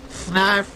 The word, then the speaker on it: Fnarf: Fnarf rhymes with barf.